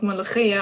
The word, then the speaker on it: Molokhia: Yeah, I really want to know about this dish and how to pronounce it correctly, please. Well, it's called Molokhia.